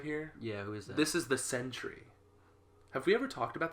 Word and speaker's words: Sentry: this character right here yeah this is the Sentry have we ever talked about the centuries and Century spelled with a c no well not this one